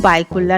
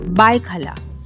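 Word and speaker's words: भायखळा: বাইকোল্লা নামক জায়গাটাতে অবস্থিত একচুয়ালি এই জায়গাটার উচ্চারণ কিন্তু বাইকোল্লা নয় বাইখালা কিন্তু সেটা কালোক্রমে বা উচ্চারণের ভুলের জন্য বাইকোল্লা হয়ে গেছে এবং সবাই একে বাইকোল্লা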